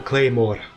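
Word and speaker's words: Claidheamh Mòr: Okay, I never knew how to pronounce this thing, but apparently it's just pronounced Claymore with a Scottish accent. I can't really do a Scottish accent. A Claymore.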